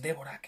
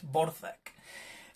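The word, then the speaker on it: Dvořák: Sé que parece que pone Dvorak, pero no es Dvorak, es Dvorak.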